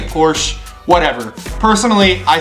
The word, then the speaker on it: Porsche: pronounced Porsche okay um it's German in German it is pronounced Porsche that is why people pronounce it like that I get that in English in the United States saying Porsche might make sense by